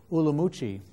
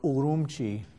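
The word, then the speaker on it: Ürümqi: xinjiang Province where the largest city is called ulamuchi or urumchi depending on which way you pronounce it ulamuchi is the Chinese way urumchi is the uyghur way of pronouncing it so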